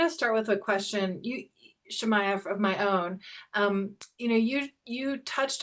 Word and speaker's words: Shemaiah: And for those who maybe didn't hear this, or maybe you said it before we actually started, Shemaiah rhymes with papaya.